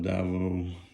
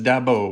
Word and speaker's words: Davao: I love Davao. Davao. Some people pronounce it Davao. Some people pronounce it Dabo with like a B.